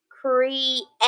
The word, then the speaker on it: create: about in this word create create what vowel sounds do we hear in that word e and a cree 8 okay all right now let's